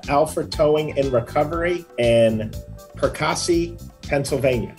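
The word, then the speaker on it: Perkasie: towing in recovery in percassi pennsylvania i'm sure that's perkasy and i sent it said it wrong but it's one of those two last but not least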